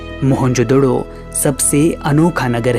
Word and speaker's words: मोहनजोदड़ो: आओ दोस्तों आज हम मोहनजोदड़ो की गलियों में घूमते हुए हमारी प्राचीन सभ्यता के गौरवपूर्ण अतीत को महसूस करने की कोशिश करते हैं मोहनजोदड़ो शब्द का सही उच्चारण है महन जोदड़ो और सिंधी भाषा में